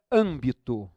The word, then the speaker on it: âmbito: E como não é a penúltima, é a antepenúltima, é a terceira de trás para frente, essa é o caso da palavra proparoxítona.